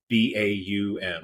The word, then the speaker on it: Baumeister: Bowel or Bow? Baum.